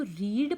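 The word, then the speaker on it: read: spelling यह रहता है लेकिन प्रेजेंट टेंस में आप इसको रीड पढेंगे ओके और पास्ट टेंस में आप इसे क्या करेंगे रेड जैसे मैंने अभी यहां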